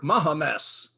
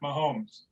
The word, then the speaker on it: Mahomes: fine quarterback patrick mahomes patrick mahames you mean at mahomes well maybe that's how it's pronounced up in canada hockey boy marv says